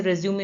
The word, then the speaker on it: resume: ठीक है, जैसे रेज्यूमे में होता है। ठीक है, रेज्यूमे में होता है ना, एक होता है रिज्यूम, दोनों की स्पेलिंग सेम होती है, RESUME।